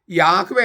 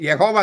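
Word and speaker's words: Yahweh: യാഹ്വേ എന്നതാണോ യഹോവ എന്നതാണോ ശരി? യാഹ്വേ എന്നതാണോ യഹോവ എന്നതാണോ ശരി? ബൈബിൾ പണ്ഡിതന്മാരെല്ലാവരും പറയുന്നു യഹോവ എന്നത് വ്യാകരണപരമായി അസാധ്യമാണ്.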